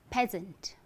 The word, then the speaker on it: peasant: So P-E-A-S-A-N-T, often you try to pronounce it the way it is spelled, right?